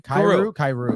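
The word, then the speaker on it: Kyrou: Cairo, is that how you say it? Uh, Jonathan? Kairu.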